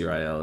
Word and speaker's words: Zireael: They just say Zireael is how you they pronounce it.